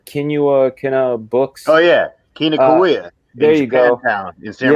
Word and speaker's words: Kinokuniya: I'm a terrible pronouncer. Kina Books. Oh yeah, Kinokuniya.